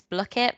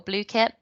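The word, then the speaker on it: Blooket: people to use and it's block it or blue kit i think i've heard it pronounced either way and it's very similar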